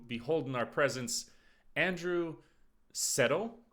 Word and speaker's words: Szeto: holding our presence andrew settle am i saying it correctly uh zeto but yeah pretty much i mean yeah okay